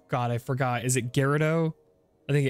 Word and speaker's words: Gerudo: All I know is I was wrong, and I think I was giving it the soft J instead of the hard G. So that was definitely it. So Riju of Gerudo Town.